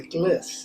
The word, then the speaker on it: gliss: glissando it's in short it's called a giss and it rhymes with bliss this is just such